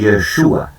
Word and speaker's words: Yeshua: una transliteración del griego, pero el nombre original de Jesús es Yeshua, ya, o Yeshua, como usted quiera llamarle, ¿verdad?, que quiere decir el que salva a su pueblo, ¿ya?